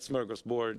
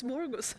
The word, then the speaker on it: smörgåsbord: But smorgasbord is smorgasbord. Smorgas. I said it like the Americans say.